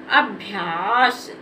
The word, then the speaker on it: अभ्यास: समय नहीं लेना है इसको जल्दी से पढ़ देना है और आ की साउंड का भी उच्चारण नहीं करना है तो ये हमारा हो गया अभ्यास क्या हो गया अभ्यास